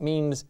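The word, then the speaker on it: mesne: spelled mesme but it means it's pronounced mean and it means intermediate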